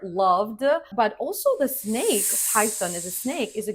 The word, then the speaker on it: Python: Next up, Python. It's not Python. The correct way is Python. Pie like a pie, you know, the apple pie.